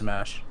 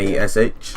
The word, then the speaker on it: Mash: Yeah, his name's MASH. Like Okay. MASH.